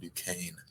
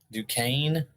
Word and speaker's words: Duquesne: It's pronounced Duquesne. Duquesne.